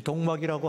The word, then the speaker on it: 독막: 이 동막이라고 하는 것은 독막이라고 하는 말의 발음 표기입니다.